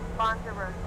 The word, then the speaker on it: Lanzarote: We have begun our final descent into Lanzarote.